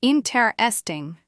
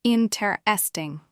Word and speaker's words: interesting: Many learners tend to stress the wrong syllable, saying interesting, but the correct way is interesting. You can hear that the stress is on the first syllable, not the second.